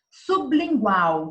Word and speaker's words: sublingual: Sublingual, então o B é mudo.